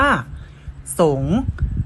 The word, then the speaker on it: สิงห์: สะกด เช่น คำ ว่า สงฆ์ อ่าน ว่า สงฆ์ สิงห์ งาน ว่า สิง องค์ อ่าน ว่า องค์